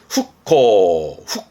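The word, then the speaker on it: 復興: 발음은 후코.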